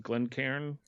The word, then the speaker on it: Glencairn: you gave us of the how do you pronounce the glasses? Glencairn glasses, which are really cool.